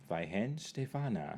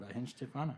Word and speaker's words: Weihenstephaner: Weihenstephaner. Weihenstephaner.